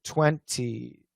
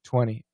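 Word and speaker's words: twenty: Sucre, this word 20. Yep, that's right. Yes, it's sucre. It's true. Americans almost always drop the T, but for ESL students, you should keep it.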